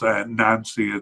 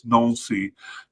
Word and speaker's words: Nancy: Um I know it's not pronounced Nancy, it's Nuli, but um I'm trying uh to kind of balance an English and French accent uh when I say this.